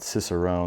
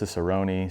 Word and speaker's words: cicerone: Um apologies about cicerone, that's c i c e r o n e. I think I've heard it pronounced ciceroni sometimes.